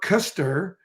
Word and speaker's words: Koesterer: e-r-e-r and i think the way you pronounce your name mark you pronounce it mark custer and my last name